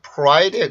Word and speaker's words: pride: 그냥 개념만 설명을 드리는 거니까 그렇게 받아들이시면 될 것 같고 그래서 프라이드보다는 오히려 pride에 가깝습니다. 자, 발음 한번 해볼까요? pride, pride, pride.